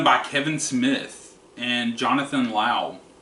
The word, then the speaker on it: Lau: But this is done by Kevin Smith and Jonathan Lau. I'm pronouncing it Lau. It's L-A-U. I might be wrong.